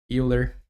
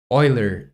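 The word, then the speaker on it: Euler: eer angles that Y and now let's save and try again Oiler oh okay uh thanks for the correction uh you say eer is pronounced Oiler Oiler angles uh thank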